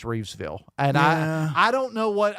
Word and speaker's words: Reevesville: It is not Rivesville, it's Reevesville.